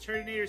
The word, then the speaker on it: Turtonator: By shifting the emphasis, Turtonator sounds like Turt in a tour or Turt in a container.